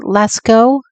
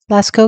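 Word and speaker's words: Lascaux: the um how do you say it John Lasko Lasco cave paintings okay um and the Alaska cave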